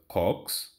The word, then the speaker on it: COX: inhibit cyclooxygenase which is abbreviated as C or X pronounces Cox okay and cyclooxygenase is